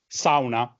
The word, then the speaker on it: sauna: And the third one is sauna, which is, this one is easy, sauna, pronounced the Italian way.